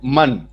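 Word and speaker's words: من: उसके बाद एक वर्ड है मन, उसका प्रोनाउंसिएशन यहां पे लिखा हुआ है नीचे, मन।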